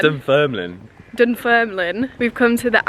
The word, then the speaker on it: Dunfermline: Like Dunfermline.